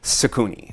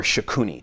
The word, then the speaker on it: Shakuni: So in this tense, what we have is a specific character known as Shakuni or Shakuni, depending upon how you want to pronounce it.